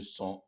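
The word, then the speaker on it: sun: le mot San aussi ces deux mots-là se prononcent de la même façon et le sang a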